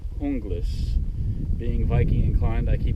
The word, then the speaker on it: Junglas: it's spelled j u n g l s pronounced hungus being Viking inclined I keep want to call it the junglist cuz Jays are wise but we're not going